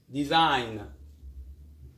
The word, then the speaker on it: design: on to our lesson g is silent when it comes before n example champagne a champagne is an expensive wine foreign it is non-native sign design which means to make